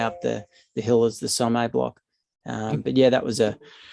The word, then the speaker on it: Sommet: Sommet. Yep, Sommet. There you go. There's my. That sounds French. I probably butchered it. If you take the French pronunciation, yep.